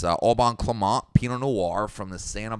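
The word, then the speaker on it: Au Bon Climat: clemont and uh the the pronunciation is that it's spelled a-u-b-o-n and then it looks like climate it's uh auburn clement pinot noir from the santa barbara region of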